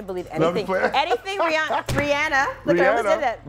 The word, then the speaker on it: Rihanna: Rihanna is Rihanna, not Rihanna. What? Yeah. Well, I don't believe her though. Oh, I'm gonna believe I'm anything. playing. Anything Rihanna.